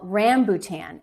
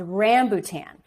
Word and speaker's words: rambutan: would save up to get some fruit called rambutan it's spelled r a m b u ta and it's called rambutan and it's indigenous to that area of the